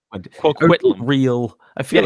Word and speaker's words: Coquitlam: Coquitlam. Coquitlam.